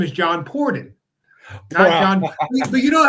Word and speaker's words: Pordon: gets it right okay so it's uh it's Pon but listen I've been called pardon I've been called parone so all the people